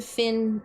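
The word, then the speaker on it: Fionn: had the same problem when I ran into Finn in um Eyes of Hellfire because it's f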